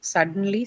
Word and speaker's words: suddenly: then automatically the stress has to be on the first sl okay unless of course